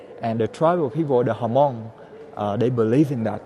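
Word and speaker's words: Hmong: o n g uh in english the h is silent right but here we say hamong and we had a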